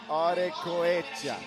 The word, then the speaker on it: Arecoechea: I think it's Arecoechea. Arecoechea. I tried there. Arecoechea. He's from the Basque country, which is notoriously difficult to pronounce. Okay, Arecoechea. Yep. All right. And you gotta really roll the R. Arecoechea.